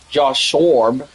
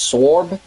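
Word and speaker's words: Sborz: And then Josh Joshb I think I pronounced it wrong. I think it's Sorb.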